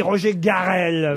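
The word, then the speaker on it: Roger Carel: Roger Garel. Ça se prononce comme ça à la française.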